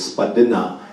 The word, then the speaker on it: Spadina: Spadina, this street right out here, it's another corrupted word. It's Spadina. It's a low valley in speaking our language.